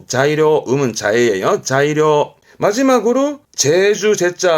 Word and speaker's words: 材料: 발음은 자이료. 자이료.